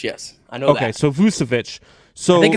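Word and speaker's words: Vučević: I get that wrong but but it is vucevic yes I know okay so vusovich so I think it's Nicole I think it's Nicola vusevich I know vucevic I don't know Nicole I think it's Nicola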